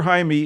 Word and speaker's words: Jaime: or Jaime Jaime Reyes we'll call him Jaime let's get the pronunciation proper here Jaime Reyes it looks like Jamie a Mexican-American teenager bonded